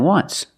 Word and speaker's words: once: But you say there's an O in once. That's a vowel. But phonetically, it's not a vowel. Phonetically, it makes the sound w, like a W.